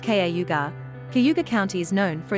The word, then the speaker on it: Cayuga: in cayuga county in auburn n.y pronounced kaugar cayuga county is known